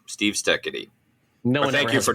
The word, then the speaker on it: Steketee: It is pronounced Steketee, Steketee, Steve Steketee.